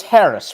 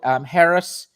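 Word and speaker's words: Haris Noor: heading, and call it Harris. It's Harris, Haris, or am I pronouncing it correctly? Harris, Haris, Noor, Noor. Harris Noor's first assignment.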